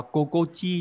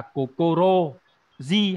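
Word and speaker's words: 心地: Đọc là kokochi nhá. Rất tiếc là nó không phải là kokoro ji hay là kokorochi mà lại biến âm đặc biệt là kokochi, được chưa?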